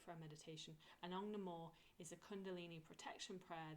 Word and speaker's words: Namo: Namore, so it's N-A-M-O. I spell it Namore as O-M-O-R-E, because I say it how I spell it.